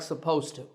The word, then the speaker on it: supposed to: supposed when we talk it's difficult to say supposed it to so we drop that D sound in natural speech and we say it like supposed to but when you write